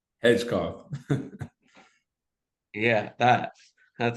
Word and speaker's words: Hedgecoth: um we have cole um how do you pronounce your last name hedgcock yeah that that's how you pronounce his name